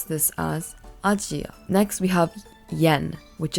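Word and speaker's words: アジア: Chinese we pronounce this as in Japanese we pronounce this as ajia next we have Yen which is the Japanese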